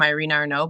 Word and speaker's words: Irina Arnaut: my name on Instagram but I spell it a little funny it's uh it's my name Irene Arno but it's spelled is it phonetically